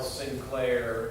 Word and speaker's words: St. Clair: I really just encourage you to go take 10 minutes and go look up Carl Sinclair, and it's St. Clair when you spell it.